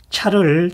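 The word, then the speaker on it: 茶: 여기에서는 차를 다리다로 쓰였는데요. 자명 그러면은 차를 다리는 거고 전다 차를 끓이다로 통용됩니다. 또 신다라고 하여 다자가 나와 있는데요. 다는 차다 혹은 차차로 발음됩니다.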